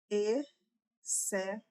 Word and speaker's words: exceto: Quando eu dio, por exemplo, exceto perceba que o X ele está dentro de um dígrafo.